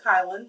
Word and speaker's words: Kylan: him kylin anyway so anyway his name is pronounced kylin Monroe and uh so yeah so that's that